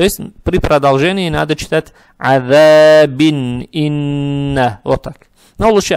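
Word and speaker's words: عذاب: Это «мад арид» будет, а «ба» надо будет подчеркивать, так как появляется сукун и будет «калкала». То есть надо читать «азаб», «азаб».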